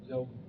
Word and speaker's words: Lobley: How do you pronounce it, sir? Lobley.